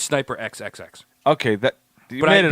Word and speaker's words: SNYPER XXX: Because if I don't say it like that, people are going to be like SNIPER, and it's not. It's SNY.